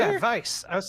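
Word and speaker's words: Weisz: Oh, I always said Weiss. I've always said Weiss, too, but I believe it actually is pronounced vice like with a V.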